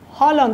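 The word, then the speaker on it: Haaland: Egypt and I tell people I'm from norg Holland Holland that's the so finally people in Egypt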